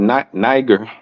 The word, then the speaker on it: Niger: and Simeon, that was called Niger, or you could say nigger. All right, either one. All right, it's pronounced by scholars.